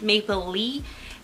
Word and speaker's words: Maplelea: describe it so like it's like Maple Leaf but without the F so it's Maple Leaf